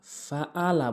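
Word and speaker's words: فَعَلَ: অধিকাংশ লোক যেটি করে সেটি হচ্ছে আলম তারা কাইফা ফাআলা, ফাআলা বলে আইনের জায়গায় হামজা এনে উচ্চারণ করে। আইনটি হলকের মাঝখান থেকে উচ্চারণ করতে হবে ফাআলা, ফাআলা।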